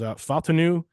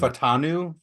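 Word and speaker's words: Fautanu: degree, but Troy, I think how you say his name is Faltanu. Is how you say his name. Yeah. Yeah. You can correct me if I didn't say that correctly, because on draft night I didn't hear a single person like say the first syllable of his name correctly.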